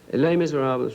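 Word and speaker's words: Les Misérables: Do people have trouble pronouncing, and my French is not great, but it's Les Miserables? Les Miserables, right? Miserables. Yeah. You have to use the old Inspector Clouseau type accent, you know.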